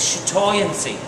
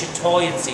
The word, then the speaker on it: chatoyancy: word for that is chatoyancy okay it's uh or the French pronunciation is shat okay and basically it's basically